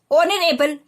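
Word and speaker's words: honorable: ऑनरेबल, ये जो word letter H से शुरू हो रहा है, ये वर्ड लेटर एच से शुरू हो रहा है, लेकिन एच जो है यहाँ पे क्या है? हिडन है, साइलेंट है, पढ़ने में नहीं आता, सिर्फ लिखने में ही आता है, तो हम यहाँ पर क्या लिखेंगे?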